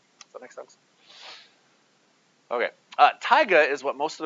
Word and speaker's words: taiga: We live in some combination of grassland and taiga. That's how you say this one here. Some people say it taiga. There's different pronunciations. I'm going to say taiga. Almost like tiger, but taiga.